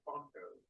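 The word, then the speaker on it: Phonto: And, you know, there's a free cell phone app that I use called Fonto. It's spelled with a PH, O-N-T-O.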